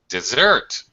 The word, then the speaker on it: dessert: aha two s this dessert okay it's pronounced more like the verb uh but this does not have a verb form it's a noun do you like dessert Halen yeah of course